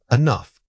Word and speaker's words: enough: The word is enough. Say it again, enough. This is a great example of natural reduction in action. The opening syllable needs to be extremely quick, barely audible at all.